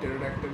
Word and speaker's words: pterodactyl: Why can't you hear pterodactyl use the washroom? Because the P is silent.